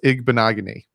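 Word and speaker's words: Igbinoghene: my ham top of my head but it's igbonogony that's how you pronounce it um yeah i think uh i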